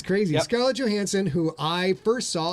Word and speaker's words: Johansson: Johansson or Johansson? It's Johansson. Joe. Hard J. Yeah, oh, is it? There you go. Hard See J. what I'm talking about? It's crazy. Yep. Scarlett Johansson, who I first saw.